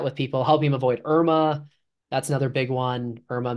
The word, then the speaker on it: IRMAA: especially since the way I'd have to spell it would be IRMAA, like the Medicare acronym Irma.